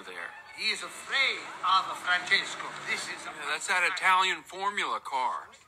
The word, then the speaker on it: Francesco: I don't say it like that. It's three syllables, not ten.